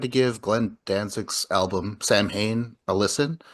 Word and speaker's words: Samhain: That's Um, because it's pronounced Samhain or something is like it? that. I know Yeah. it's like it's not Sam Hain, but he pronounces it that way, I think, Oh, does right?